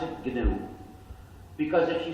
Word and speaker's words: GNU: but it still is gnu and it will always be glue so please avoid the pronunciation error that sounds like new however there's another pronunciation